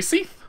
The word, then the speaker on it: Seath: But yeah, so now, but now since that happened, I can actually call him the proper pronunciation. Which is apparently Seath.